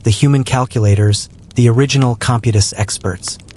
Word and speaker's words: Computus: They became the resident astrophysicists, the human calculators, the original Computus experts. Computus, pronounced Compios, is the fancy Latin word for the complex calculations needed to determine the date of Easter.